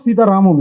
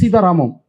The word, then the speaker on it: Sita Ramam: Sir, what is the meaning of Sita Ramam you are saying? Okay, why it is not Sita Ram? Why it is Sita Ramam? That's what you are asking, sir? Oh. Okay. Sir, Ramayanam, how will you pronounce, sir? In Ramayanam only, no? Ramayanam. Mahabharatam. We'll sound it like Bharatam. So whenever the ending of that defines like it's the story belongs to that.